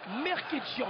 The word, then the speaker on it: Mkrtchyan: Alors, le palmarès donc de Michael Merkitchian, voilà, on le prononce comme ça, j'avais demandé à la pesée